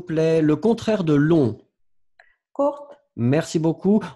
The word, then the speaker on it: court: Courte. Merci beaucoup. On ne va pas prononcer le T. Court. Court.